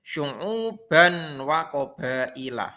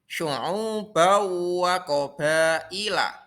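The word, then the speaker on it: شعوبا وقبائل: Tidak boleh syu'uban wa qabaila. Salah. Yang betul yaitu syu'ubau wa qabaila.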